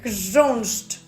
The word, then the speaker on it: chrząszcz: Vámonos con la palabra 6, que significa escarabajo y se escribe así: chrząszcz, chrząszcz.